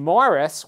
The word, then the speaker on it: Maurice: him that and and Morris which is the English pronunciation of that word that first name he was also used